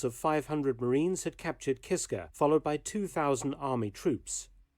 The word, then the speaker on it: Kiska: So I did pronounce it right the first time. Kiska.